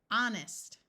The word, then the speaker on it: honest: of a word usually sounds more like R honest we can add prefixes and the H still